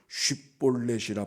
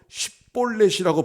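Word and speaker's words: 쉽볼렛: 네가 에브라임 사람이냐 하여 그가 만일 에브라임 사람이 아니라고 하면 6절 그에게 이르기를 쉿볼렛이라 발음하게 하여 에브라임 사람이 그렇게 바로 쉿볼렛이라고 발음하지 못하고 십볼렛이라고 발음하면 이거는 길르앗 사람이 아니라 에브라임 사람이 틀림없으니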